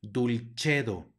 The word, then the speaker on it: dulcedo: misericordia e sino misericordia luego tenemos una c seguida de una e va a sonar como Che por lo tanto aquí se pronuncia dulcedo no dulcedo sino dulcedo luego tenemos una doble